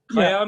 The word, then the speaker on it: Chaim: Khayyam, yeah, they call it Khayyam Shiba. Yeah, Khayyam Shiba. Khayyam Shiba. Because very difficult to pronounce CHAIM, it's an Israeli Hebrew word.